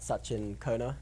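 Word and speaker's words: Sachin Khona: And yeah, my Twitter handle is that the 4th one I think is at Sachin Kona. So Can you spell that out?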